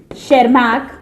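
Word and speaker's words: Tschermak: And last but नॉट the least, नाम बहुत लंबा है, एरिक वॉन शेरमैक, इसमें टी साइलेंट है students, session egg, session egg.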